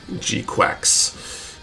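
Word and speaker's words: GQuuuuuuX: And do you like the design of the G-Quacks?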